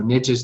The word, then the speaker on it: niche: The other line of thinking is niches to riches. I know it's niche, but that doesn't rhyme with riches. So niches to riches.